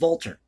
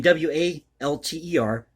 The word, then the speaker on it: Walter: the name of august walter last name w-a-l-t-e-r in german the w is pronounced like a v this little-known composer or